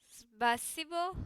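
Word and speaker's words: спасибо: In Russian, thank you is spasibo. I don't know how to pronounce this.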